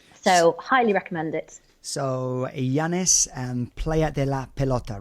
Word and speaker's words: Llanes: But there was one area which was in, if I'm pronouncing this correctly, Llanes. It's actually spelt double L-A-N-N-E-S, I think. But Llanes, yeah.